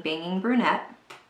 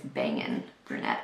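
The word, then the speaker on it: Bangin' Brunette: so I am taking banging brunette I probably said it wrong I said it like an old lady it's bangin brunette not banging okay so once I've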